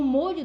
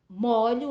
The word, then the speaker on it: molho: a pronúncia é diferente No primeiro caso tá a pronúncia do Ó é fechado e no segundo caso a pronúncia o som ele é Se der tudo certo